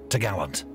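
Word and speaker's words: topgallant: cross trees which secured the top Gallant Mast pronounced to Gallant the cross trees was the lookout's position there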